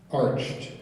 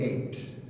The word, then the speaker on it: ached: Oh, sorry, my mispronunciation on that. We're going to go on. The word is ached. It's ached. Sorry.